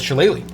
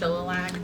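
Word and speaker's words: shillelagh: this figure uh with shalele oh it's pronounced shilag you look down into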